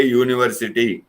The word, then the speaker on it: university: the first letter but when we pronounce it the sound refers to the consonant that is a unit a university yeah one way these sort